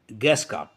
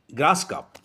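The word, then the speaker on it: grass carp: যেমন সিলভার কার্পকে বলি আমরা সিলভার কার্প, নাইলন টিকাকে আমরা বলি নাইলন টিকার বা নাইলন টেকার, গ্রাস কাপকে বলি আমরা গ্যাস কাপ, গ্রাস কাপ। অরিজিনাল উচ্চারণ হচ্ছে গ্রাস কাপ।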